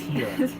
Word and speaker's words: Gila: It's Gila. Stop.